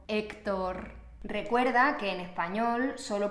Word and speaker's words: Héctor: Porfa, por favor, nunca pronuncies la H. La H en español siempre es muda, no se pronuncia, no importa dónde se encuentre dentro de la frase, ¿vale?